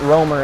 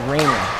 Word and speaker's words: Raymer: Not Romer, it's Raymer.